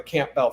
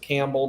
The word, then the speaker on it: Campbell: The whole family I grew up with were the Campbell family. Camp, some people pronounce it Campbell, but I my family calls it Camp Bell.